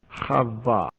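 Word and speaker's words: חוה: Il a translittéré le mot hébreu qui se prononce Chava.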